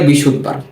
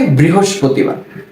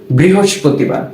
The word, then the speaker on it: বৃহস্পতিবার: অনেকে এটাকে বলে ফেলে বিশুদবার। কি বলে? বৃশুদবার। তবে এটা কি? এর শুদ্ধ উচ্চারণটা হচ্ছে বা প্রকৃত নাম হচ্ছে বৃহস্পতিবার। কি এটার নাম? বৃহস্পতিবার।